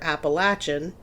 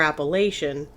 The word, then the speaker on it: Appalachian: americans called the apalachees it's pronounced two different ways depending on where you live either appalachian if you're from the south or appalachian if you're from kind